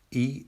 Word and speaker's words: 一: When read alone or used in counting, E is pronounced with a flat tone. However, when we say 一个人, the tone is a rising tone.